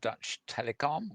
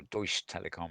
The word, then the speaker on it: Deutsche Telekom: working in partnership with German why this giant Dutch telecom or Deutsche Telekom I think is probably the better pronunciation because it's German and yeah scrolling down